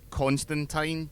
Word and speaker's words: Constantine: the Constantine TV show, which is how you pronounce his name, it's how they say it in the comics, he makes that point several times, and I once got a reply from Neil Gaiman on Twitter confirming it.